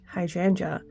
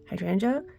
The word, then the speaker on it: hydrangea: I was like oh it's not g it's just J so hydrangea hydrangea but you know when you